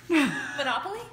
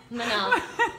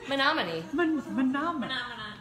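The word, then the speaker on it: Menomonie: Monopoly? Menominee. Menominee. Spell that.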